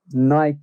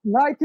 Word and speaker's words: Nike: In the UK, we call it Nike, right? Yeah, like Mike. Nike, exactly. But fun fact of the day again. We always bring the fun fact. It is definitely Nike after the Greek god.